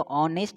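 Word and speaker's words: honest: ए ऑनेस्ट person, ऑनेस्ट person आप pronunciation देखोगे तो ऑनेस्ट आप यूज़ करोगे, यानी साउंड आपका आएगा वॉवेल का, वॉवेल का साउंड आएगा तो यूज़ करेंगे एन का, ठीक है।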